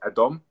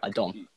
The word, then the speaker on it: Adom: So my middle name is Adom. So it's like Adom. Adom, yes. It's basically Adam with an O rather than an A.